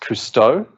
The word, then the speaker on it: Kusto: There's a really good way of querying it, and Dan informs me that it's pronounced Cousteau after the Explorer, which blew our minds because we'd been calling it Cousteau for like 2.5 years.